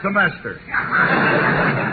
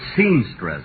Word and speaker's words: semester: This is third semester. Oh, Phil, say that word again, will you? Semester. Say it once more. Semester. You know, folks, at rehearsal, he kept pronouncing it seamstress. Imagine seamstress.